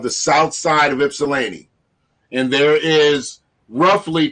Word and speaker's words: Ypsilanti: the south side of ypsilanti south side of ypsilanti okay ipsilanti is spelled y-p-s-i-l-a-n-t-i and ipsilanti is a